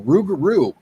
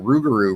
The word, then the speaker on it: rougarou: term rugaru what happened the Blackfoot couldn't pronounce lugaro correctly so rugaru was actually a mispronunciation that's how we arrived at the name rugaru what I I didn't